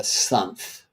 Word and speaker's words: sunth: Well, the sun moving through a sign, one of the 12 signs, that's a period that I call a sunth. And yes, rhyming with month, and for that reason.